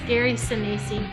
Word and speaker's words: Gary Sinise: I Wouldn't think you need to pronounce his name correctly if you're going to have him on. Gary Sinise. It's Gary Sinise.